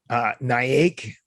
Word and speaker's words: Naik: Naik, is that how we pronounce it?